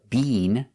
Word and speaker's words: been: We don't use the long e been. They do that in England, but in America, we don't say been. We make the short i.